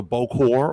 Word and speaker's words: bokor: that a necromancer called a bokor or boko boko depending on pronunciation was a necromancer could